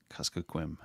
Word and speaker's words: Kuskokwim: Kuskokwim. I'll get it one time eventually. That's right. I have pronounced Kyle's name, his last name wrong for,